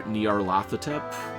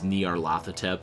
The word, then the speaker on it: Nyarlathotep: I like to pronounce it as Nyarlathotep, but honestly, go with whatever works.